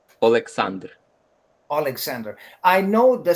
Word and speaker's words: Oleksandr: You want to hear it's exactly in Ukrainian? Okay, say it. Oleksandr.